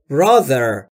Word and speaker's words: brother: I talk to my brother. I talk to my brother. My brother یعنی برادرم. برای تلفظ TH در brother زبون پشت دندونهای بالا سعی میکنید بگید زهره یا زنبور.